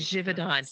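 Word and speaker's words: Givaudan: can you help me jivon it's Swiss it's jivon jivon divid on flavors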